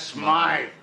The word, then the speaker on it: Smythe: Mr. Smith is closing up his shop. That's Smythe. There you got it.